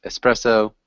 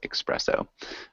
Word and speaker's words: espresso: common thing in English people mispronounce espresso with expresso yeah perfect so does